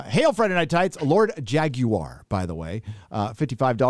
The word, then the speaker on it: Jaguar: manager yes uh hail friday night tights lord jaguar by the way uh 55 says hello friday